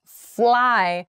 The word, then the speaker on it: fly: eat fried rice so please be very careful about your L and your R in these words fly fry so fry fry fry so mouth together for the r sound fry fry fly so